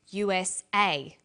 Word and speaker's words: USA: is pronounced separately but the last letter is pronounced more strongly because it carries the primary stress so we say usa asap abc and tv